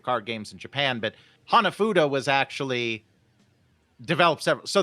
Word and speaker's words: hanafuda: played with cards yeah hanafuda is Hana Fuda yeah and uh of course I wouldn't expect Blake to go into a complete history of card games in Japan but hanafuda was actually developed several